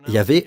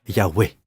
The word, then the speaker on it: Yahweh: Cela se prononce donc Yahvé ou Yahweh.